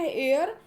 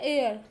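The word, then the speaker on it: heir: उसको हम बोलते हैं हेयर। तो जैसे तो वैसे तो इसको हम मोस्टली लोग क्या बोलते हैं, हायर करते रहते हैं, जो कि गलत है। तो इसकी सही प्रोनाउंसिएशन है एयर।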